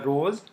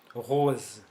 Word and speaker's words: rose: we use this word Rose okay uh so these are the two sounds so at the starting or before consonant it is pronounced as Sir or between two vowels it is pronounced as z z okay